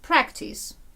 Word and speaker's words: practice: Розставляємо наголос. Practice. Наголос куди падає? На перший склад.